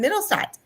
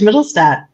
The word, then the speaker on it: Mittelstadt: first time, Miss Mittelsaedt. Hi, thanks so much for having me. I butchered your last name. What's the correct pronunciation? No, you did great. That's perfect. Mittelstadt. It's perfect.